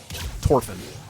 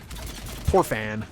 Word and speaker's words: Torfan: Torfin. See, there's that pronunciation again. Torfan.